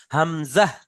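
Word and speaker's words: همزة: ওয়াও, হা, হামজা, ইয়া, ইয়া। আচ্ছা দেখেন হামজার উচ্চারণটা, হামজা শেষে একটা ছোট হর মতো উচ্চারণ হচ্ছে, হা হামজা, হামজা তাড়াতাড়ি পড়েন, হামজা।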